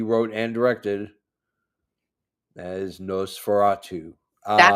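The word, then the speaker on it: Nosferatu: This is the movie that he wrote and directed that is no furatu. Um that's how you pronounce it.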